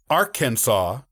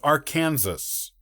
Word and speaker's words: Arkansas: in 1803 with the louisiana purchase interestingly the pronunciation of the state was only settled as arkansas with an act of the state legislature in the 1880s before that it was more commonly pronounced as arkansas and some local people still use that pronunciation